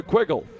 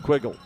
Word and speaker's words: Quiggle: 2 up and 2 down, and that brings up Kona Quiggle. Here's Greta to tell you 3 words that rhyme with Quiggle. Got it? Wiggle.